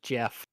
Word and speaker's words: Geoff: Geoff is pronounced just Jeff.